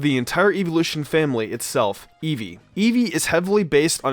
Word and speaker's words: Eevee: the root of the entire evolution family itself eevee eevee is heavily based on a fennec fox